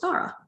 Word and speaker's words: Tara: Her name is spelled T-A-R-A, but you pronounce it Thara.